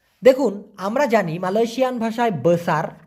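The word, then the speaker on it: bongsu: হবে বংসু বি ও এন জি এস ইউ উচ্চারণটা হবে বংসু আনা বংসু আনা বংসু মানে হচ্ছে কনিষ্ঠ সন্তান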